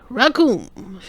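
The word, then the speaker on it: Recoome: Raccoon. It rhymes with doom.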